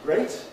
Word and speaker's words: great: they don't grace is great rhymes with state threat is threat blind